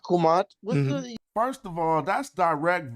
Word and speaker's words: Kemet: Afrocentrics love saying Kemet. But we've always pronounced Kumat.